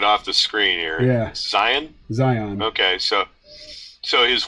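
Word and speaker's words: Zeihan: conversation all right so I I pronounced you know pz's name that way in a few videos and uh some of his dedicated fans schooled me it's Zion Oh I'm just reading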